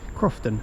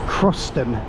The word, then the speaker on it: Croston: So, we're going to head over to platform three and go over to Croston at 8:00 soon.